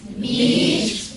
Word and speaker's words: beach: you to remember that your mouth is wide on that one what do you do